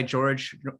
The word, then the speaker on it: Jorge: Yeah, and it is spelled Jorge. I go by George generally, but Oh, yeah, okay. it's spelled Jorge.